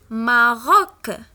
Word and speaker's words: Maroc: Mot suivant, on a C à la fin du mot, donc on la prononce K, Maroc.